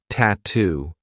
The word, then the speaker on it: tattoo: T what's the attire another word that I love for practicing the true te is tattoo we have two true T sounds TT and then two